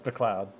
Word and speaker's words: McLeod: I mean, it is spelled McLeod. Yeah, but it's McLeod.